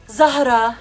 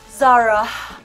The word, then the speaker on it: Zahra: It's Zahra, not Zara. Zahra. You gotta get that within the in between.